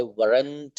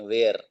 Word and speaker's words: were: इसका प्रोनाउंसिएशन आप वर करना, बहुत से लोग इसको वेयर पढ़ते हैं, वेयर। ये वेयर नहीं है, वर है, वर। WERE, वर।